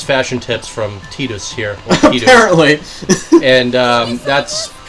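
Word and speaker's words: Tidus: knew how his name was supposed to be pronounced you and I of course like most people called him Titus Titus but which makes sense because that's how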